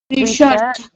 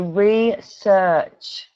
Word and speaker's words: research: It's re and then search. So research. Research. Much better. And you got the ch sound at the end. So what the ch the ch.